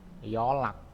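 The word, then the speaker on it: 연락: Oke, terus ini yon rak dibacanya yolak.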